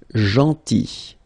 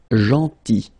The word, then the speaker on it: gentil: Then gentil, so remember this final L is not pronounced, gentil, gentil, and it's nice or kind.